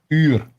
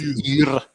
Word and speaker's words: uur: Uur. What's uur?